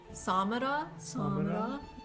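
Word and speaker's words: Samarra: So, I think you say it like Samara.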